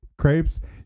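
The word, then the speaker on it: crêpes: Crepes." Yeah, a new kind of crepes. Evan, crepe. You're not supposed to. The plural of crepe is crepe, but it's spelled with an s.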